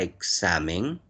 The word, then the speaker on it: examen: La palabra examen, su mayor fuerza de voz está en la penúltima.